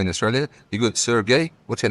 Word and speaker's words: Sergey: You got Sergey, Sergey. They all pronounced differently. No, it's always Sergey.